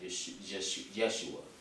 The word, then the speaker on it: Yeshua: Is it Y-E-S-H-U-A, Yeshua, or Yahshua, Y-A-H-S-H-U-A?